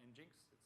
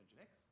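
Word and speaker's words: nginx: so we look at engine X not in jenks pronounced engine X chef in spec and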